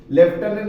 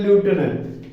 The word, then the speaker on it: lieutenant: लेफ्टिनेंट के बजाय देखो कैसे, किस तरह से, लेफ्टिनेंट के बजाय ल्यूटेनेंट, LIUTENANT, उसको बोलते हैं ल्यूटेनेंट। अब अपने भाषा में, अपने लैंग्वेज में, इंडियन लैंग्वेज में उसको लेफ्टिनेंट बोलते हैं, लेकिन एफ साइलेंट है इसमें, है ना, तो इस